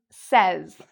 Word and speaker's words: says: When we're talking about "he" or "she", or "it", it becomes: "says", "says". And notice the "s" here? So, this "s" actually sounds like a "z" sound; a "z" sound: "says", "says".